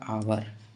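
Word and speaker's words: hour: है आवर ठीक है एच यहां पर साइलेंट होता है और अगर कोई भी वर्ड का एच से शुरुआत हो और वो एच अगर साइलेंट होता है तो उसका साउंड हमेशा भवेल होगा साउंड हमेशा वल होगा तो देखो यहां पर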